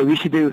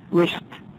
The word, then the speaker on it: wished: 그러면 I wished 이때 wish드 하지 마세요. wished wish 하고 발음하세요.